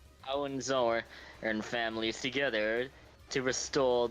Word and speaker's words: Hohenzollern: It's, I believe it's pronounced Hohenzollern. Hohenzollern and families together to restore the monarchy.